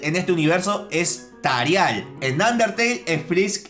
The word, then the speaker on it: Tarial: Frisk en este universo es Frask y Toriel en este universo es Tarial.